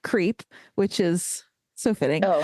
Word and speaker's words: CRP: Gordon Liddy, who was the finance counsel for the Committee for the Re-election of the President, also known as CRP, or pronounced CREEP, which is so fitting.